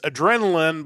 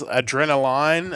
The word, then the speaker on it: Adrenalin: and the album is adrenaline but I believe it's adrenaline the German word for it all these titles are in German so I'm about to butcher